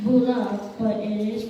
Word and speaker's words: Bula: The letter B is pronounced with an M sound before the B sound, like in bamboo. Bula is not bula, but it is pronounced as bula.